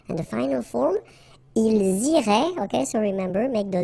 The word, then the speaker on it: iraient: And then if you look carefully, you get A-I-E-N-T. Okay? But then phonetically, it goes like E. Okay? So, technically, these form and these forms here are pronounced the same way. And it goes like irait.